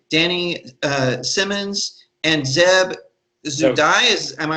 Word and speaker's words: Zewdie: i'm here with danny uh simmons and zeb zu dai is am i pronounced okay good okay good good i want